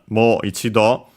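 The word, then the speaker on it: もう一度: Okay, good thing I checked because actually the expression moido according to the dictionary is unacented.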